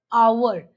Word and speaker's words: hour: If it makes the sound like a vowel then we add an an before it.